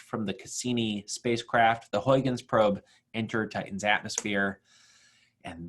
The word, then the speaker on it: Huygens: guy here and the European Space Agency built Huygens that's how you pronounce that launched in 1997 and Cassini was